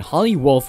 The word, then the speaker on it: Holly Wolf: going to look at holly wolfe which rhymes with hollywood this could be a